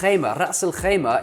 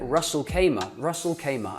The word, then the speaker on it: Ras al-Khaimah: Now, Ras al-Khaimah, most people call it Ras al-Khaimah, and I don't blame you because the Kha is hard to do, the Ras is not something which comes naturally.